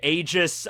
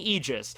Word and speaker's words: Aigis: like okay he's saying aegis now keep in mind this is a Greek word we're talking about and there's a someone